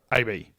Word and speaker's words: ABI: show is game called a bee yeah all right now it's Bell ABI so in my mind I keep saying Abby yes if I say it